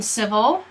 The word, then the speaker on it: civil: So the C, just like in citizen, sounds like an S. S. Now, if you notice, civil, this I is not pronounced. So you go vol, straight from the V to the L.